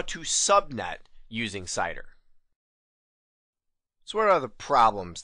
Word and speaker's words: CIDR: say the letters because I pronounce This Acronym cider but many people pronounce it sitter and I've even seen it pronounced as Cedar cider sitter Cedar don't